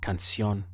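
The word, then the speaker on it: canción: Spanish is la cancion notice in the pronunciation we have can't and then see on the sound at the end is like see on la cancion how would you say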